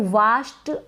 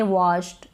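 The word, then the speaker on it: washed: और यहाँ पर ये जो ए है इसको ओ पढ़ रहे हैं, इसको वाश्ड ना पढ़े, वॉश्ड नहीं, वॉश्ड यानी धुला हुआ।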